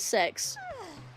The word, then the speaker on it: CeX: It's It's the letters CE X, but they pronounce it sex.